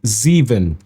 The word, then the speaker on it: Zevon: It's pronounced Zeven. Zeon Zeven. This video was rough.